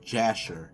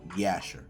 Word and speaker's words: Jasher: Now, they didn't have a letter J in the Hebrew alphabet. So, they use the letter Y. So, really the pronunciation of Jasher, which we how we say it really is the uh book of Yasher.